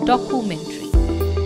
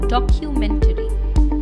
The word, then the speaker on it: documentary: It is often incorrectly pronounced as documentary. Please remember, CU will not be pronounced as ku, but as Q. Q. Documentary. So the correct pronunciation of the word is documentary.